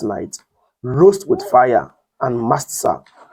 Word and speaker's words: matzah: And they shall eat the flesh in that night, roast with fire and mastsa. The word matzah, not master, mastsa. It simply means unleavened bread. It's pronounced mastsa.